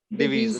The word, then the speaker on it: diviso: pair, or divise is diviso, diviso, and Diviso. equal is uguale. uguale. Okay. So the So S pronounced as Z. sorry. The S pronounced as ZZ.